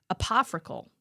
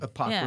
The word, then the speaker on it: apocryphal: And it's almost certainly apoprical. Did I say it right? No. Apocryphal. Apocryphal.